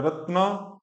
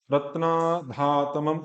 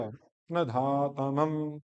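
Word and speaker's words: रत्नधातमम्: इसमें संस्कृत वाले भी बहुत ज्यादा, या तो रत्ना कर देंगे, या रत्ना, रत्ना धातमम, आ को बड़ा कर देंगे, रत्न धा, न के तुरंत बाद धा बोलना पड़ेगा, रत्न धातमम, रत्न धातमम, रत्न धातमम।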